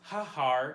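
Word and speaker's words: ההר: of our hard now this is pronounced ha-har instead of just har and instead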